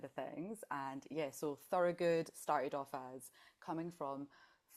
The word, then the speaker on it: Thurogood: Welcome to Moonto Moon, Thor. Good. We were just talking about pronouncing your name. How'd I do? Perfect. Beautiful. You were saying good is rooted in Thor.